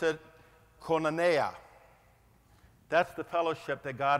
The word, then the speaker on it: koinonia: I'm going to dare to pronounce it koinonia.